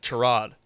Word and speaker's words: Tyrod: Tyra Tyra Taylor who I've learned is now he likes to pronounce his name Trod.